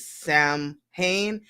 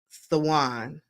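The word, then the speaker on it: Samhain: called oh my gosh it's spelled s a m h a i n but you don't pronounce it Sam Han you pronounce it like saan saan and it's a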